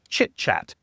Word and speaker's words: chitchat: Chitchat. And make sure that you pronounce it like a CH and not like an SH at the beginning.